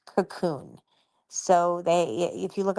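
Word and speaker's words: Kaqun: It's spelled very weird. K A Q U N. And it's pronounced cocoon.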